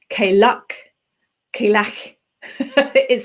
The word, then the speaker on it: Cailleach: I pronounce it Cailleach because I'm English, but Cailleach, Cailleach, it's got that on it. But I've also heard it pronounced Cailleachi. So I think with something like that, there's no right or wrong as such. It just depends on your take on it and what your accent is.